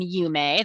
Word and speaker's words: UME: So we're a member of the consortium UME. That's how it's pronounced.